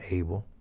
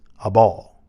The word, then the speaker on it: Abel: to abel and remember although we have been taught that pronounced his name abel um it's a ball and just for clarification